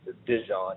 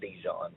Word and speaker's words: Dejon: It is pronounced Djon, not Djon.